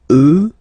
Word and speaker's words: eux: get the sound remember, final X not pronounced, and then plural elle, elle. Okay, so let's see them one more time. Moi, toi, lui, elle, nous, vous, eux, elle.